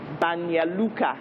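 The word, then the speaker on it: Banja Luka: so you had to pronounce names like banya lucca which was spelt banja luca and you know names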